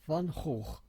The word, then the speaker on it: Van Gogh: Now, why I am very involved with Van Gogh is because in Dutch, my name and his are pronounced identically. It's Van Gogh, Hoog.